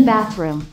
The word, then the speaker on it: bathroom: I'm in the bathroom. 자, bathroom 발음을 좀 가르쳐 줘야 되겠네요. 몇 가지 소리가 배. TH는 몇 가지 소리 갖고 있었더라? This 중에서 여기서는 스. Bath. 그다음에 room. 됐습니까?